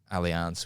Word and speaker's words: Allianz: I've been to Brazil and done trained at like Allianz, which is probably like historically one of the best You don't competitions. say alliance, you say alliance. Allianz. That's how they say it.